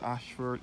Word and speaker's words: Ayshford: As I said before, this Ashford is spelled A Y S H F F O R D.